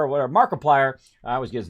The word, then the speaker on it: Markiplier: I was watching this thing with Multiplier, or whatever, Markiplier. I always get his name wrong.